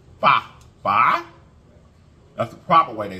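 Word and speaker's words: phở: the other day the proper way to say "fa."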